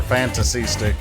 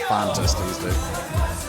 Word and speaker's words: Fantasystic: baby turns out I was pronouncing that right by the way fantasy STI or fantasy stick not fantastic got to write the first time not the second time just